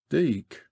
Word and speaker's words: Dyke: to the entrance of the Dyke locally pronounced deck by the way speaking